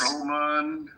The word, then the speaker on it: Roman: Is that Rohan? No, it's not wrong. No. That's Hey! no. This is actually Roman. If that's you, Roman, Actually, it's pronounced Roman. It's Roman.